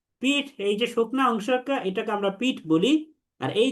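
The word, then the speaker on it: ب: একটা হচ্ছে যে 2টা ঠোঁটের যে ভেজা অংশ, 2 ঠোঁটের ভেজা অংশ, এই 2 ঠোঁটের ভেজা অংশ যদি আমরা মিলাই তাহলে সেখানে উচ্চারণ হয় বা।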